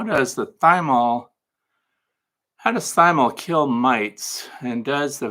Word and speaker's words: thymol: I said thymol because that's the way it's spelled. It's thymol because it comes from the thyme plant.